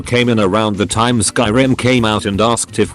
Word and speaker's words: Skyrim: Scrolls game I said Oh you mean Skyrim he laughed condescendingly and said no I mean scrim thinking he was just mistaken I was like oh no it's called Skyrim no it's not it's pronounced scrim at that point I